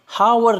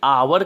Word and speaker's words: hour: स्वर की है, क्योंकि ये जो H दिया हुआ है यहाँ पर फ्रेंड्स साइलेंट है, यानी कि इसको हम हावर नहीं कह के बल्कि आवर कहते हैं।